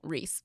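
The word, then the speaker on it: Rhys: We're naming her Reese, but it's spelled R-H-Y-S.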